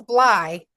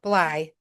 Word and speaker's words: Bley: It's Bly. Think of it Wow. like your eyeball, Bly.